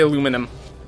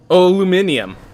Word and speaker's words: aluminium: England that aggravate me like aluminum love how Americans say aluminum um it sounds so cute aluminium not aluminum huh I do know